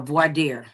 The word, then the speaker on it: voir dire: They do what's called a voir dire, right pronunciation.